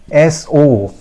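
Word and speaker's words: sow: be the same right another word which is s-o-w right this word is also pronounced as so so so remember the pronunciation of this word so right friends never pronounce it see you okay now the last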